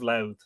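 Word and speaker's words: Louth: the battle of moreheavner in the county of loud which by the way is here spelled l-o-w-t-h we spell it these days l-o-u-t-h but anyway all named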